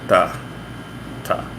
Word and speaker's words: tá: So it's more of a hard T, like a ta, ta.